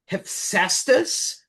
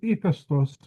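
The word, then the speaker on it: Hephaestus: In Greek, it's Ephestos or Heesus as they call him.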